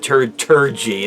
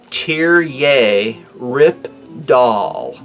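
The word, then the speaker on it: Terje Rypdal: but here's turn g Rippetoe not now not Tertre gee that's what it looks like ter like a tear tear yay rip doll is the correct pronunciation so I was told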